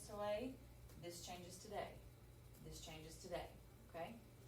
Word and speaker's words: des: So this is lay. This has to be day when you're pronouncing stuff.